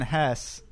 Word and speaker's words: Hesse: We are reading Steppenwolf by Hermann Hesse, is how I looked up that that's pronounced.